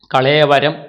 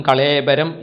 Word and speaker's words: കളേവരം: ഇതം കളേവരം, ഈ ശരീരം, കളേവരം എന്നും കളേബരം എന്നും ഈ പദത്തിന് രണ്ട് തരത്തിൽ ഉച്ചാരണം ചെയ്യാറുണ്ട്. അതിൽ തെറ്റില്ല, അതിന് വ്യാകരണപരമായിട്ടുള്ള സാധുത ഉണ്ട് എന്ന് പറയപ്പെടുന്നു.